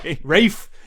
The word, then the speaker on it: Ralph: I keep calling him Ralph because it's fucking spelled Ralph and it's pronounced Ray. Rafe. Yo, I'm Ray Fiennes. Oh yeah, just the Fiennes. L and the P and the H are silent.